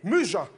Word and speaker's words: muges: À tous les Muges. Les murgés, monsieur, prononcez Non, bien. les muges.